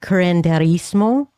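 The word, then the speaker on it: curanderismo: to be here and great job on pronouncing Gurandismo because that can stump people and you did really well. So, thank you. I always think that there should be an I in the middle of that, but it's okay.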